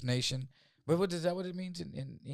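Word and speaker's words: Nahcion: Oh, it's like Nion, right? But just nation.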